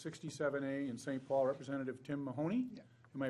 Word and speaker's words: Tim Mahoney: Paul, Representative Tim Mahoney. Yeah. Am I pronouncing that correct?